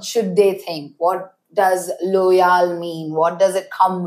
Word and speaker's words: Lojal: And a few weeks in I figured out the name Loyal. Uh L O J A L pronounced Loyal. Uh for it doesn't mean anything.